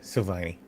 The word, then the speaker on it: Silvagni: Silent G. Yeah, Silvagni.